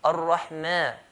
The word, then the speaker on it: Ar-Rahman: If I say ma, I'll be making it as heavy letter. Ar-Rahman, ma, not ma. Bismillahir Rahmani, mani.